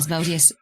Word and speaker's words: Asmodeus: Asmodeus.